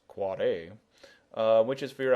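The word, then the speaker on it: AAAA: is with an NS you've got your quad a yes pronounced quad a uh which is for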